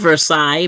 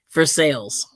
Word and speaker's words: Versailles: a town called um should be called Versailles but it's called are you ready can you guess so slow almost no say I can't imagine no you got it you were close they call it Versailles for sales yeah like for sales yeah wow so that's